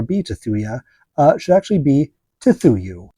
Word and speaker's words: Tthuy: So it's spelled Tthuy. T, te, Thu, that becomes thu. Y, just by itself, should get that vowel carried over. The U carried over to Y makes U, should be Tethuyu, but it didn't turn out that way.